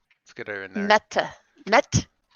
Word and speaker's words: Mette: Met. METTE. Pronounced Met like jet.